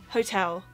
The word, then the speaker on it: hotel: but yeah it's not hotel or hotel it's hotel that was the first one that was really